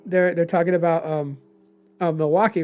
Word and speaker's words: Milwaukee: they're talking about um Milwaukee, right? So Alice Cooper's like the the actual name is pronounced Milywake which is along for the good land.